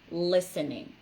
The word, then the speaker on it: listening: to what they're saying that is listening that's a verb that has a silent t it's silent and another